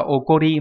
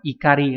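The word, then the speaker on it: 怒り: Thế nhưng mà danh từ không đọc là okori mà nó lại là ikari, các bạn lưu ý nhé.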